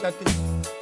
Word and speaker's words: Judkins: Did I pronounce his name right? Judkins.